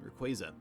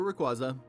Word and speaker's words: Rayquaza: and collecting lugia in rayquaza or rayquaza if that's how you choose to pronounce it on this part we're